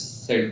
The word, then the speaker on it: Sid: I'm like, Sid, S-I-D. Okay, oh, Sid. Like Sid the Kid.